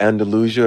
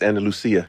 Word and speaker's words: Andalusia: Alabama. That's how you say it. Andalusia. Are you from Spain? It's Andalucia.